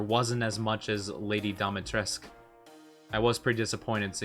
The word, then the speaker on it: Dimitrescu: Yeah, no, that's how it's spelled, but I think it's pronounced Dimitrescu.